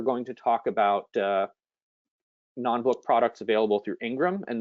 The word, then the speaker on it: non-book: users so non-book uh non-book I noticed we put the stress on the first syllable non-book it's both a noun